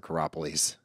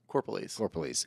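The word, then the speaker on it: Corropolese: Is it Corpolese or Caropolese? Corpolese.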